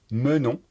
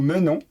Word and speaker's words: menons: Prononcez menons. Nous menons.